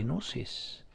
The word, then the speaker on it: gnosis: gnosis EP IG in oh yes is humanely pronounced you're literally it's a pig nose espero silent Gimli EP gnosis my own a boat was about some metabolites